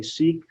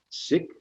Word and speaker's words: Sikh: of the sikh faith some say seek but the proper pronunciation is sick and i'm reading this passage because we have just commemorated 9 11.